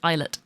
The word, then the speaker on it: islet: to the surface of the islet it's lit islet why did I say it like that about